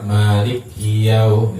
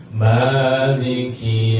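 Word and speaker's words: مالك: Jangan sampai contoh yang sering kadang-kadang kita dengar Maliki Maliki, berarti likinya di sini kafnya disabdukan. Harusnya dia hanya sekedar lewat enteng aja bacanya. Maliki Yaumiddin.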